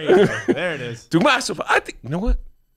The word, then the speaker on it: Dukmasova: Dukmasova. I said it right. Oh, you did that. Dukmasova. There you go. There it is. Dukmasova.